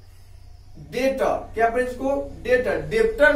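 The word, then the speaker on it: debt: इसको डेट नहीं पढ़ेंगे, डेट. क्या पढ़ेंगे? Date. Date डीई बी टी, इसको पढ़ेंगे डेट.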